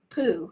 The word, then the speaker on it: RAFPU: So any emotion that you have, I bring it down to, I call it RAPFU or RAFPU. RAFPU, say it right.